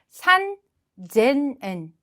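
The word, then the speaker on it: 三千円: 그래서 작은 쯔의 발음 받침으로 바뀌면서 어떻게 바뀌느냐 바로 핫100엔 그리고 1000엔은 세넨 그리고 3000엔은 세넨 이렇게 돼야 되지만 또 응발음 때문에 발음이 달라집니다. 그래서 3000엔은 산젠엔 그리고 8000엔도 핫지세넨이 아니라 핫센엔 그리고 만엔은 그냥 만엔입니다 이렇게 표현하지 않고요.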